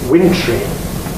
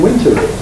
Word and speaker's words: wintry: it's become absolutely established similarly wintry is to do with the winter sometimes though people are not so sure about it you will sometimes hear people saying wintery because after all it's